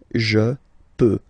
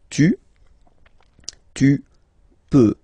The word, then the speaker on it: peux: Final X not pronounced here, okay? So you get the X, but you don't pronounce it. So basically you get the sound peut, je peux, okay?